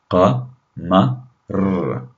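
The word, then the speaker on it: قمر: Notice how you have that ra sound at the end. Qa, ma, r, qa, ma, R, qamar.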